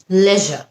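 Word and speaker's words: leisure: আরেকটা শব্দ লিজার নাকি লেজার। লেজার হচ্ছে ব্রিটিশ, লিজার হচ্ছে আমেরিকান।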